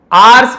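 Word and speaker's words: hours: आवर्स passed, इसे आवर्स पढ़ेंगे, एच को नहीं पढ़ना है, आवर्स भी बोल सकते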